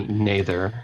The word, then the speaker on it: Noether: Maybe Noether.